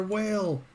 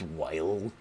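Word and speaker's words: Weil: off again oh boy Dr will um actually it's pronounced whale yeah that's what I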